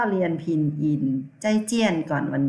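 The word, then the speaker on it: 再见: ว่า พบ กัน ใหม่ พยัญชนะ ตัว Z ออก เสียง จอ จาน นะ คะ คือ ไอ ใจ เสียง 4 เนอะ ใจ ใจ ใจ ใจ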